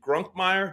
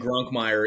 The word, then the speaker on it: Grunkemeyer: of hours but uh but I think grunkmeyer is the is the correct pronunciation yeah so uh I